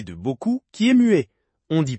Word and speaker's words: beaucoup: prononce o et au e de qui se prononce comme un e ouvert. Et surtout le p de beau coup qui est mué.